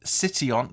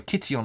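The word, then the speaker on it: Kition: name comes from the ancient Greek city of City on uh sorry Kitty on I should say I think you pronounced that which was located on the site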